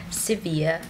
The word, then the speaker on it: Sevilla: to our channel and we are currently in sevilla spain some people pronounce it as seville we arrived here at